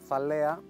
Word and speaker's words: Thalea: Thalea, the name of our brand, rhymes with olea, the Latin name of olives.